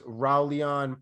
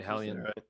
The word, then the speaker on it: Raulian: We've got O'Malley versus Raulian Paiva, I believe is how his name is pronounced. Haulian or so Brazilian, probably Haulian.